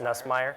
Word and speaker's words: Nussmeier: Garrett Nussmeier. Nussmeier, that's what I was trying to say. I can't pronounce anything, so.